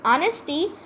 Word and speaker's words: honesty: We spell this word honesty as honesty, but its real pronunciation is honesty as H becomes silence as it reacts with O, the vowel.